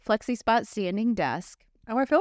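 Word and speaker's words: FlexiSpot: day so I purchased the flexi spot yeah that's how you say it flexy spot standing desk oh I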